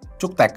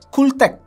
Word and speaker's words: CUKTECH: langsung dikirimin sama si cuktek sebenarnya Bacanya adalah ctek ya langsung aja dibuka